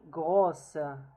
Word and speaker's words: grosse: Elle est grosse. So in case it's feminine, we pronounce the S.